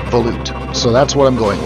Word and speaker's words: volute: as some people like to call it the Volute I'm going to tell you I checked the Mariam Webster website and they claim that it's pronounced Volute so that's what I'm going with it was